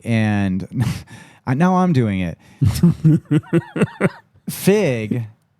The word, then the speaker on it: Frigg: Fig and there is an R in there, but I don't hear him pronounce it.